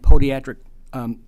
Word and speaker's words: podiatric: Podiatry and podiatric medicine mean basically the same thing. Okay, I got that, but it's pronounced podiatric. Yes, sir. Okay. Kind of like tomato. The other tomato.